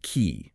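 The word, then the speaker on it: qi: It's pronounced key, spelled q iii.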